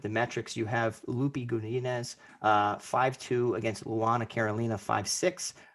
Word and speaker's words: Godinez: Godinez.